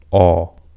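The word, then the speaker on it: ㅓ: So the key difference between these two is that when you pronounce this one, you have smaller circle of your lips. So you have O compared to this, and this is Aw.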